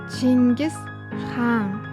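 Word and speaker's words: Чингис хаан: 여러분들도 이제 저를 따라서 한번 발음을 해 보세요. 징계스 항 징계스 항 예수해 예수해 너무 잘하셨어요 여러분 여러분은 살면서 내가 과연 세상을 잘 살아가고 있는 걸까라는 의문이 들 때가 있나요?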